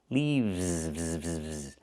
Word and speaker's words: leaves: We use the letter V and pronounce it VV plus the S making it Z sound like in zebra. Leaves. One leaf with the F sound with no voice. One leaf and two leaves.